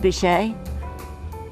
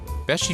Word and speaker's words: Beachy: It's not pronounced Bichet. Beachy Furniture, located next to the Mermaid a few miles from the Delaware beaches on US Route 9.